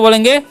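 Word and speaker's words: blow: अब आगे देखिए लिखा बी एल ओ डब्लू तो इसे हम क्या पढ़ते हैं इसे हम लोग पढ़ते हैं ब्लो ब्लाउ नहीं पढ़ना है ठीक है ओड का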